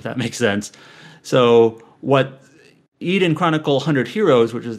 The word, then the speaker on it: Eiyuden: eden chronicle rising and apparently it is pronounced more like eden at least that's how